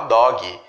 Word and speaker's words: dog: Nós, falantes nativos de português, temos a tendência de colocar um i aqui no final e falar dog, cat, quando na verdade a pronúncia ela vai só até aqui. Ela não é intensificada, eu não tenho uma vogal intensificada ali no final.